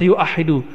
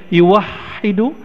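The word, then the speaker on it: يُوَحِّدُ: satu atau Ahada yuah tapi enggak ada orang baca yuahidu tetap bacanya yuwahidu tauhidan ah kalimat itu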